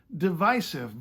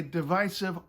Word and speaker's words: divisive: to my own divisives I still prefer divisive because well divisive sounds like devices and I have enough